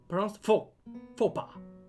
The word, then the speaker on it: faux pas: It's pronounced faux pas.